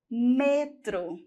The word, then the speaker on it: metro: Nós vamos ter metrô e no espanhol, metro.